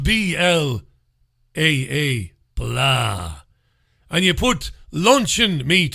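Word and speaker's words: blaa: all over the world to taste the blah it's spelled b-l-a-a blah and you put luncheon meat in it lunch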